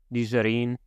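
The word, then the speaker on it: Nigerien: if you're talking about the people it's the nizarin um so it's it's a based off a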